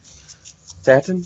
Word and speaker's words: Satin: Satin? Like satin sheets. Because if it's Satan, it'd be with an A. I believe it has an I in it.